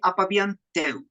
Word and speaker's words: Apab’yan Tew: R Birney my guest today is do I pronounce that correctly in Maya it will be apabian too 10 oh got it got it he's a